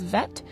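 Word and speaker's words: ב: and its alternative pronunciation if there's no dot in the center then it's pronounced as vet and so the letter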